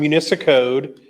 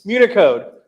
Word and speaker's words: Municode: We've actually done Municicode. So if you actually go to the website, did I say it wrong? Yep. Okay. What did I call it? Municicode? Municipal, what's it called? Unicode. Municode. I was so close.